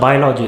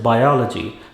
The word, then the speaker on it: biology: It is not biology, it is biology.